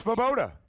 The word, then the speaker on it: Svoboda: I can't pronounce his last name. It's Svoboda.